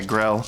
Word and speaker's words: Grell: the Grell, but they am I saying it right? Give me a second. Yeah, Grell. Grell is what they're called. I just want to make sure that I'm not saying the wrong.